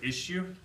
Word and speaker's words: issue: Are there any questions about the word issue? One thing for pronunciation, it looks like an S, but it sounds like an SH. Shh, issue. Issue. It's like shoe, like the word shoe.